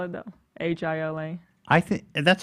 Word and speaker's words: Hila: like you're Hila.